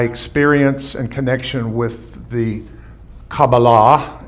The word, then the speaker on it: Kabbalah: and connection with the kabbalah is really the true pronunciation but we say kabbalah in in our language and i think it